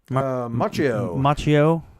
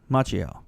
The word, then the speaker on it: Macchio: How do you pronounce his last name? Macchio. Macchio.